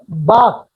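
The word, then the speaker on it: Bach: वो लिखेंगे बाक, सॉरी, बोलते हैं बाक और लिखते हैं कुछ और, है ना, ठीक है। लेकिन प्रोनाउंस किया जाता है डॉक्टर बाक।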